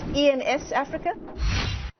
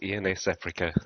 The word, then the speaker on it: ENSafrica: your firm's name correctly is it ens africa it is ians africa thanks michelle thanks very